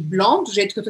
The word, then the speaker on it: blanc: E o que acontece com o C ao final? Não pronuncia. Barra aí esse C no final. E eu não vou falar blank, mas eu vou falar blanc.